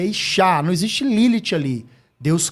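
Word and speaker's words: אישה: Mulher se pronuncia Ishá.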